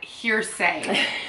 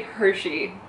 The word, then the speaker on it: hearsay: That hearsay. Okay. How do you pronounce it?